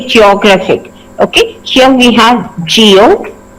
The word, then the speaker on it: geographic: has three syllables so when we have the words ending with ic we usually need to stress in the pen ultimate syllable that means the penultimate means the second last syllable right when we uh say for example here geographic and geology we need to stress on graph so here geo geography